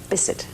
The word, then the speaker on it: Bisset: How do you say your name? Bisset. Oh! It is Bisset.